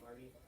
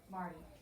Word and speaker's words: mardi: Is it Marty? Mardi.